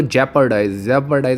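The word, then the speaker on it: jeopardize: ये देखिए कि तुम जितनी भी अपने जेपर्डाइज का मतलब जियो, हालांकि स्पेलिंग तो जियो आती है पर इसकी जो उच्चारण होता है वो जेपर्डाइज होता है, खतरे में डालना।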